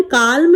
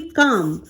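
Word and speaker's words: calm: देखिए स्पेलिंग देखिए, काम, इसे हम काल्म नहीं पढ़ेंगे, एल यहाँ पर जो है वो साइलेंट है फ्रेंड्स, इसे कैसे पढ़ेंगे? काम, CAM काम पढ़ेंगे, लेकिन लिखते समय एल भी लिखेंगे।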